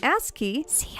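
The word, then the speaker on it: ASCII: online with a broadband connection the Japanese company ask key see I pronounced it correctly this time guys even created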